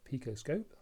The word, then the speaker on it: PicoScope: So I've now got a new toy that I hadn't got before, and that's over here, and that's this picoscope, that's how you pronounce it.